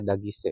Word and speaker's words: Daguise: Gue melafalkan namanya itu karena berdasarkan dia sendiri yang bilang ya bahwa pelafalan namanya itu adalah Alisa Dagise gitu ya. Jadi bukan Daguis tahu gimana ya.